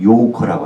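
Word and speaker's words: 游客: 해외 여행하는 사람들을 그거를 유객, 유랑하는 손님에서 유객해서 그것을 중국 발음을 하면 요커라고 합니다.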